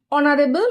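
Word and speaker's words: honourable: Number one হিজ অনারেবল ম্যান। এখানে এন বসবে। কারণ হল অনারেবল। কথাটা এইচ দিয়ে শুরু হলেও কিন্তু উচ্চারণ হচ্ছে ভাওয়েলের মত।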